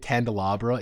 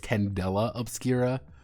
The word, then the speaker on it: Candela Obscura: no on four I I kept pronouncing it candelabra even though it's Candela obscura uh because I'm me